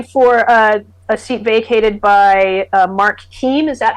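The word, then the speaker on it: Keam: And So you're running for a seat vacated by Mark Keem. Is that how you that's pronounce his right. name? Mark Keem, our delegate for a little over a dozen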